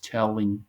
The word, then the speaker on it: telling: Telling jokes. Telling. No, no existe la doble L como sonido de Y, como algunos quizás pensaríamos. Decimos telling.